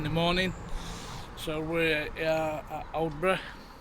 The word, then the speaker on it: Aldeburgh: So, we're at Odra. Obra. So, I've asked a couple of locals how they pronounce it. So, they said old.